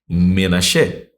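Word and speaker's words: מנשה: E Menashe, tá ali na pronúncia que a pronúncia mais próxima, né, que é portuguesando a pronúncia hebraica.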